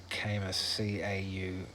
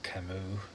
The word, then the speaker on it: Camus: Um, yeah, I would have pronounced it Camus, Camus, but it's actually pronounced Camus.